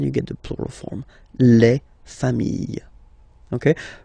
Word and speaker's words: familles: You just add this final S and you get the plural form, les familles, okay? Remember, chien, singular form, chien, same pronunciation, but you put this S, okay? Final S, not pronounced.